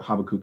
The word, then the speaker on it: Habakkuk: mm-hmm so yeah uh habakkuk i tend to say habakkuk but habakkuk is actually a little bit better the pronunciation so he is actually